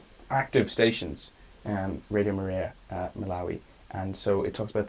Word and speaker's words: Malawi: ooh exciting exactly and i pronounced it wrong earlier but malawi is what did you say